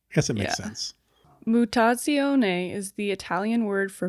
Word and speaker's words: Mutazione: Mutazione is the Italian word for mutation, meaning to change or alteration.